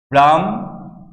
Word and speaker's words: ব্রাহ্মণ: তাহলে ব্রাহ্মণ আমরা যখন বলতেছি তখন কিন্তু মর আসলে দ্বিত্ব ঘটতেছে, ম জিনিসটা দুইবার উচ্চারিত হচ্ছে। তাহলে এটির উচ্চারণ আমরা কিভাবে লিখব? ব্রাহ্মণ, ব্রাহ্মণ, দুইটি হর্ষন্ত, দুইটি